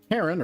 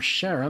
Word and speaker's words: Charon: Charon, or Sharon, I've heard it pronounced both ways, is tidally locked.